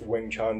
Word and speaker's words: Wing Chun: then you have now keep in mind they're all pronounced Wing Chun they're not pronounced differently there there are um total